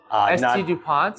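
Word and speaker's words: S.T. Dupont: ST DuPont?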